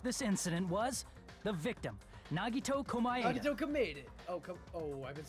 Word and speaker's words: Nagito Komaeda: The person who actually arranged this incident was the victim, Nagito Komaeda.